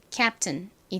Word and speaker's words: captain: 자, 다음 요 단어는 앞부분에 C가 키읔 소리 나고 A는 에 소리 나죠? P는 받침으로 들어오는데 받침으로 들어갈 때 주로 한국식으로 이렇게 비읍으로 표기를 합니다. 그래서 captain이 됩니다.